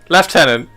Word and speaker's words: lieutenant: And sometimes the Brits pronounce things differently just to piss off the French. Lieutenant. Left tenant.